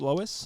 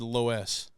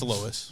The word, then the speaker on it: Loess: how you say it Lois Lois like uh like Family Guy yeah I was on live on the way here and I said low s I'm like I really